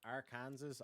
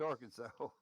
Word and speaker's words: Arkansas: So like I'm I'm just saying though like in in terms of like pronunciation our Kansas. I'm now pronouncing that state as our Kansas. It's Arkansas.